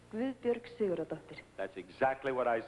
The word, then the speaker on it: Guðbjörg Sigurðardóttir: You pronounce it Gabud Bjorg Sigurd Doctor. Yes. Let me hear you say it. Guðbjörg Sigurðardóttir.